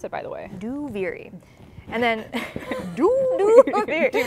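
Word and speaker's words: Duviri: saying out loud is a that's how you pronounce it by the way do viri and then do not listen to us then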